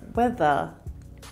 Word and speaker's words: weather: Instead, similar to the South African accent, many Australians don't pronounce the R sound at the end of words, like weather is weather, weather. This means that the final sound in these words is a schwa or a sound.